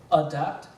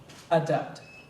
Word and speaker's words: adept: Your word has two acceptable pronunciations. Adept. Adept.